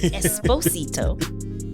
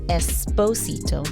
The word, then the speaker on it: Esposito: I rolled the r Esposito I was looking up I wanted to make sure I said it right so he says it's Esposito not Esposito I saw that I